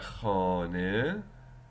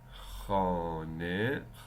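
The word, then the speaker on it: خانه: of the letter, but it doesn't produce the sound he. Instead, it pronounces the sound I. It pronounces the sound I, like arise in the word arise. Like khane, khane, khane means home.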